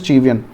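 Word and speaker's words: cevian: सो the pronunciation is चीवियन।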